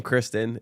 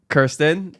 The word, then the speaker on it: Kirsten: Yes, it is unfortunately the word curse and the number 10.